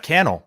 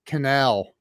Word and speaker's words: Cannell: fired up and it's kennel rhymes with YouTube channel so we're good to go dude so IIIi don't know why I kept wanting to say canal and that's what most